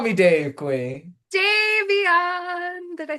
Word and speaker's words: Davion: camera a little bit, but I'm curious who Devon is. Did I say that right? No. Just call me Dave, Queen. Davion.